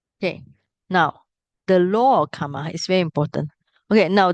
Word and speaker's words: kamma: are two meaning here karma is sanskrit so in Sanskrit is always more difficult to pronounce so R and M become mm Kama Pali is a very